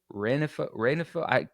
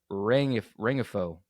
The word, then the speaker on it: Rengifo: Anyway, Luis Renfroe, Renfro. I cannot know how to pronounce this game. It's not Renfro because that's Hunter Renfro. So Luis Rengifo, whatever, coming in number 8.